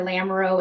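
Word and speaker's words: Lamoureaux: four accounts uh the first account is our lamro endowed fund um lamro is spelled l a m o u r e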